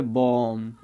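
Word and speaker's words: bomb: इसको कॉम्ब नहीं बोलेंगे, इसको क्या बोलेंगे कॉम, इसको बोलेंगे बॉम। ओके, यानी कि एम भी एक साथ आते हैं, उनसे पहले अगर कोई सिंगल वोवेल आता है तो अपना डेफिनेटली बी साइलेंट हो जाएगा, कॉम बॉम।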